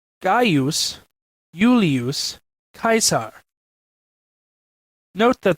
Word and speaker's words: Gaius: In classical Latin, it was pronounced Gaius Julius Caesar. Note that the first name, like the second, is properly pronounced in three syllables, not two.